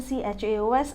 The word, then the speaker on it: chaos: Actually, it is written CHAOS and it is pronounced as chaos.